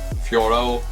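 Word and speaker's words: Fiorot: Graasso but this girl Emanuel Fo Fioro that's how you say it that this is a tough tough son of a like son of a gun.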